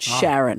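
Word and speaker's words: Charon: One of them is called Sharon. Sharon. They've spelled it C H A R O N, but it's pronounced Sharon.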